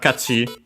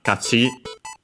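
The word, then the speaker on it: 勝ち: form, and so the corresponding noun, kachi, win, victory, accent on the last mora, as per the rule for these continuative forms used as nouns when accented.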